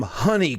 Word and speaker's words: Hunie: I'm Honey, and that's spelled HUNIE.